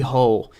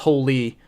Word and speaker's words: Hole: Fassbender plays detective harry hole this is based off a Norwegian novel takes place in Norway so it's supposed to be pronounced holy but in the film